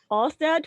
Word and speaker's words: Ørsted: Ørsted, really?